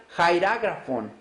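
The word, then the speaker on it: χειρόγραφον: quiere decir en griego se pronuncia jair ágrafo se escribiría cheiro gr font en español si lo viéramos así es jairo grafo no se refiere a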